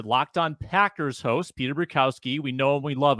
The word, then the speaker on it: Bukowski: Bukowski.